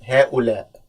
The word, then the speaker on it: هؤلاء: Okay, I know it's a little bit difficult because we have two hamzas here. It's pronounced هؤلاء.